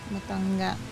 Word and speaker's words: Matanga: Matanga. Oh no. It's with the hard G.